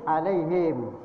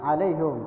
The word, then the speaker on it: alaihim: Misalkan dalam alaihim dibaca alaihum. Kalau kita mengikuti Imam Asim alaihim, jangan alaihum. Alaihum itu adalah qiraat imam-imam yang lain ya, alaihim.